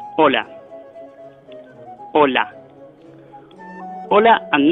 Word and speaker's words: hola: You say hola. Hola. Hola and not hola. Hola without H means wave. Spells different, but the pronunciation is exactly the same.